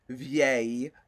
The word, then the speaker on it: vieille: And for feminine, it's vieille, same pronunciation, but with double L.